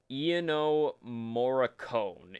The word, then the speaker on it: Ennio Morricone: I don't know how to pronounce his name. It's very difficult. Okay, here, I found it. Ennio Morricone.